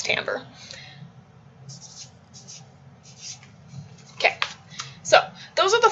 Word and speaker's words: timbre: handwriting intensity and timbre no it's not team bray it's timbre okay so those are